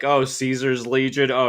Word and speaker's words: Caesar: It's like, oh, Caesar's Legion. Oh, you got that like hard C because it's like Kaiser's Legion in New Well, Vegas.